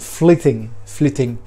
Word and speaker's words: flyting: You will find there is a phenomenon called a flitting, or a flyting. The way the Y is pronounced is a bit different. Hopefully I have remembered to put it down there in the down below. But flitting.